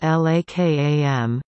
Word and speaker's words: Lekem: would eventually be named le Kem pronounced la kam the Hebrew acronym for